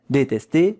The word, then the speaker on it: détester: That one is A.